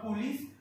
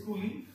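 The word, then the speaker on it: coulis: that is your fruit remember s is silent it's not pullies it is cooling is nothing but a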